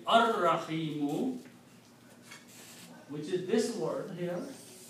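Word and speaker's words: الرحيم: And when you put al before that, this will become al Rahimu. And when you pronounce it, will be ar Rahimu, which is this word here.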